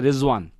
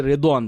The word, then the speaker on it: রেজওয়ান: যেমন আমরা দেখি অজু শব্দটাও কিন্তু এখানটা আসছে, যা অনেকের নাম আছে রেজওয়ান নামটা কিন্তু অবশ্যই ওয়াদ দিয়ে, আবার অনেকে রেদওয়ান বলে, রেদওয়ানও একই ইয়ে থেকে।